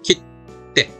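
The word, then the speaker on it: きって: 그러나 한 박자 찍는 겁니다. 기테니까 깃. 물론 뒤에 오면 더 세진다 그랬죠. 깃떼.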